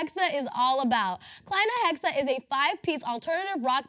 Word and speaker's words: Kleinahexa: But it's spelled with E's instead of A's, but I figured it would be easier to pronounce if it was with A's. It's more like phonetic, but we'll see.